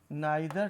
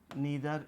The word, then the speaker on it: neither: Both did not teach के बजाय आप बोथ की जगह पर नाइदर का प्रयोग करेंगे, नाइदर टाट, नीदर या नाइदर दोनों pronunciation both are equally correct.